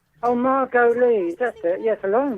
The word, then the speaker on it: Margolyes: I can't pronounce it. Is it Margot? Miriam Margolyes. Oh, Margot Lee.